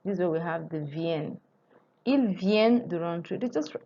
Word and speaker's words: viennent: So the N is pronounced. This is where we have the viennent.